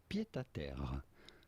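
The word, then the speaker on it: pied-à-terre: In French we would say pied à terre, a pied à terre, but it'd be fine in English to call it pied à terre, pied à terre.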